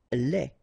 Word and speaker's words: lait: Lait. Un lait. Okay, so the only difference is the final thing here, they, you don't pronounce it, they, you don't pronounce it, so phonetically you only have this lait.